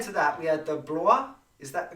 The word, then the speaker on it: Blois: So here we have, and prior to that we had the Blois. Is that the correct pronunciation?